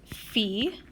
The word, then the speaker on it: phi: All right, this one, we pronounce this phi.